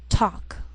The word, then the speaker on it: talk: sheal it wheel Veil sometimes L can be silent so you have to be careful the first five words listed below are very common so let's take the time to make sure that you're pronouncing them correctly listen and repeat after me talk walk could should W the yellow part of an